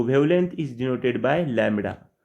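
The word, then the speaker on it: lambda: So wavelength is denoted by लैम्बडा.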